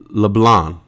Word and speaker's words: LeBlanc: LeBlanc. Don't pronounce the C. Really? Matt LeBlanc.